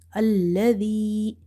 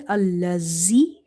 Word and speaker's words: الذي: Hamza, lam fatha, al, lam fatha la, alla, dhal, ya kasra di, alladhi, the. Now, dhal is from the tip of the tongue. If you say allazi, z, then it will be wrong.